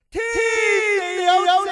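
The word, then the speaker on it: 天地有正气: 哎呀，此气不同彼气啊！嗱，你应该读成天地有正气。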